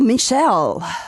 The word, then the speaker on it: Michael: Now is it pronounced Michael or Michelle? Um, both works.